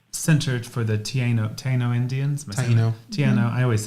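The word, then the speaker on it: Taíno: Taino, I always said it wrong.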